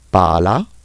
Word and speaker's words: pala: Deuxième remarque, en italien, les doubles consonnes se prononcent plus fort. Les doppie consonanti si pronunciano più forte. Exemple, sete, sette. Soif, sept. Sete, sette. Pala, palla.